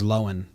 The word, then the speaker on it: Lohan: i think there's um lindsay lohan it pronounces her name different than people think so that's a topic that's exciting that is exciting it's not that i thought it was bigger she just says lowen oh okay lindsay i